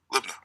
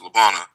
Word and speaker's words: Libna: Libna. We would pronounce it Labana, but it's called Libna today.